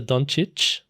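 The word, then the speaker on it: Dončić: Doncic.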